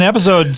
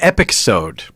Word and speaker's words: epicode: So it's spelled EPICODE, but it's a soft C.